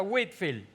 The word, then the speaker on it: Whitefield: ellos llamado George whitfield algunos lo escriben whitefield pero igual se pronuncia whitfield ambas formas son aceptadas sucede que George whitfield